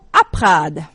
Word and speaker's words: Aprad: Alors c'est A-P-R-A-D. Aprad, comme ça se prononce.